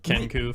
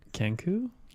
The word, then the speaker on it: Kenku: He's a Kenku for one Nailed it.